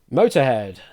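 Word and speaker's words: Motörhead: Yes, Motorhead should actually have an umlaut over the second O. So it should be M-O-T, O umlaut, R, head. Probably doesn't pronounce it any differently. It's still pronounced Motorhead, I guess.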